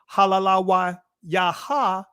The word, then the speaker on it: Hallelujah: it says here Hal now we normally drop the last ah at the end but it says Halala yaha right or Halala that is the ancient pronunciation of Hallelujah come on family oh